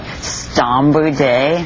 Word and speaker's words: Scombridae: Can you spell it for me? Well, let me make sure I'm saying it right. Scombridae.